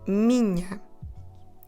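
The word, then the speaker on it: minha: n a and we when we have the n h together we do the sound so to say my followed by a feminine singular word what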